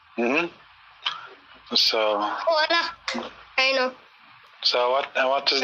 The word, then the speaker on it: Hola: They don't pronounce the H. They just go hola.